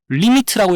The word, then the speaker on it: lim: 요 기호는 리미트라고 읽으면 돼요. 이 극한을 뜻한 영단어 리밋의 약자라 되어 있죠. limit에서 it 빼고 lim만 적혀 있는 건데 뒤에 it 빠졌더라도 리미트라고 읽어주면 되고, 그 여러분들이 잘 아는